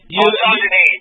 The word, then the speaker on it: Ontogeny: Ontogeny. Mispronouncing it. It's ontogeny.